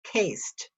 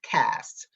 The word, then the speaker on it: caste: spelled c a c-a-s-c-c-a-s-t-e it looks like it should be pronounced cased but it's not it's cast it's pronounced cast c-a-s-t-e a system of